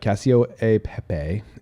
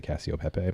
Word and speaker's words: cacio e pepe: So the Cacio e Pepe is how they actually pronounce it. In America, we just say Cacio Pepe.